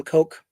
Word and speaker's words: Koch: The Cotch brothers actually pronounce Koch brothers. Can I just call them brothers? Do I have to call them coke?